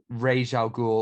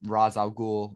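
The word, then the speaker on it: Ra's al Ghul: some incredible people here regial ghoul or raz al-ghul as it's pronounced in this scarecrow bane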